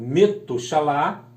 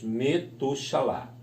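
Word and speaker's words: מְתוּשֶׁלַח: quer dizer em hebraico, ou é pronunciado em hebraico, Metushalá. Então, nós temos o Ben com Shevá, o Tav, o U, o Shin, o A, o Lamed, outro A e o Het. Então, nós lemos Metushalá.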